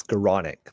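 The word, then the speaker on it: Skowronek: It's Skornick, ladies and gentlemen.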